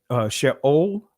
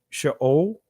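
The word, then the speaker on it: שאול: And then this is the Israeli pronunciation, Sheol, right? So this is the colon, right? So that makes the O sound. This is what is called the Shava. So it'd be Sheol, right?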